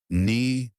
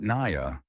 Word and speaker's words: Nia: Hargrove, who once mistook her for a transfer student twice in the same week, now made sure to pronounce her name with full syllables, Nia, not Naya.